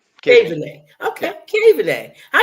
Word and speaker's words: Kaveney: Kaveney. Kaveney.